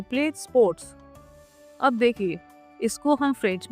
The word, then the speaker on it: sport: फेर दू स्पोर्ट। यहाँ पे टी विल बी साइलेंट, ध्यान रखिएगा।